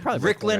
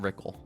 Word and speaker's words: Rycklon: I don't know how to pronounce it. It's spelled like this. Rycklon. Rycklon. Okay, Rycklin is good. Rycklin is fine. Right. Oh my god. It just looks so weird. I'm happy it's not Ryckle.